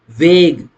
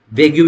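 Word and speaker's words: vague: Eight point terms of agreement must not बी वेग वी ए जी यू ई वेग यू भी बोलते हैं। वी ए जी यू ई कई बच्चे वेग यू भी इसको प्रोनाउंस कर लेते हैं।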